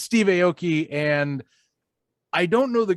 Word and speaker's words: Aoki: That was as far as I got with it, with trying to distinguish, but they're pronounced Aoki. So take one of the eights, take Steve Aoki's last name, boom, Team Aoki for now.